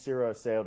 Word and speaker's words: Cyro Asseo: part of my name like my name is sira sayo i have a really long last